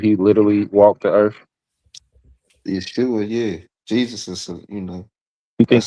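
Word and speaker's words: ישוע: So the pronouncing of Joshua and Jesus is the same thing. We would both be pronounced as Yeshua, right?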